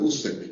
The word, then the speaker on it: Usyk: Usyk, can you pronounce his name for him again, please? Pardon me? Usyk, his first name? Oleksandr Usyk.